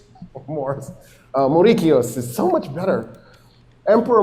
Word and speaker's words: Mauricius: His name was Moricios, but of course, we mispronounce everything. So, I'll just say Morris. Maurice. Morris. Moricio is better.